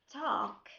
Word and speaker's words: talk: Most of the time the letter L pronounced, but we have some exceptions, some words that the letter L is silent.